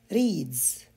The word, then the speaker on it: reads: Speaks. Reads. C'est le son Z. Watches.